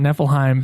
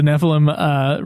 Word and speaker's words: Nephilim: I'm gonna call it Niflheim because I've been playing I've been watching fucking Kingsglaive, which there's a town called Niflheim, and I'm realizing that's why I'm saying it wrong.